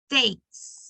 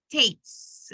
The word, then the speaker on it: takes: add the S, but in the pronunciation is a problem because we do not emphasize the end of the word. So you say take, it sounds like if you say take, even if you are trying to say takes. So try to say takes. Like the is, like the S sound at the end.